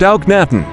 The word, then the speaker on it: Akhenaten: Akhenaten, pronounced Auknaten, also spelled Akhenaton or